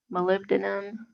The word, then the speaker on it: molybdenum: I don't know how to pronounce that. It's Molybdenum.